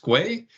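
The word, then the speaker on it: Kwe': wanted to wish you hello, which in the Mi'kmaq language is pronounced Gwe. So Gwe to everyone on the call.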